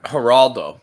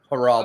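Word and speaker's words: Geraldo: Haraldo, but it was it was a G. It's spelled with a G, but it's pronounced like an H because it's Spanish. Haraldo.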